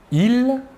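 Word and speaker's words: ils: personnel sujet tout d'abord le masculin il l'a s final ne se prononcent pas et le pronom personnel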